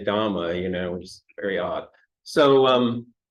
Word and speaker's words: Dhamma: your mouth, and so we don't say Dharma, we say Dhamma, which is very odd.